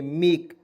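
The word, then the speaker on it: make: के से क लिखेंगे अंतिम में ई आता है उसको उच्चारण ए के रूप में होता है लगा देंगे मेक मेक मीस क्या होता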